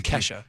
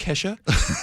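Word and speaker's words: Kalshi: I don't want to say kesha every time. I just It's kesha. Yeah, it's pronounced kesha.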